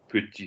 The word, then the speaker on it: petit: Petit, we're not pronouncing the T on the end.